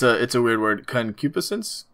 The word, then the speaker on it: concupiscence: Concupiscence, I think is how you pronounce it.